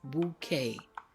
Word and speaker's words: bouquet: one of those words the word is bouquet bouqu is a word that we use in the English language that has a French pronunciation the Q and The